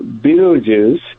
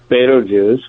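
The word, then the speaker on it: Betelgeuse: So, so Beetlejuice, which is sometimes pronounced Betto Juice, which is sometimes pronounced Beta, is an Arabic name, which many of our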